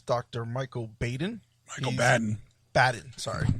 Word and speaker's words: Baden: this gentleman is Dr Michael Baden Michael bden badden sorry pronounce it B badden uh he's a forensic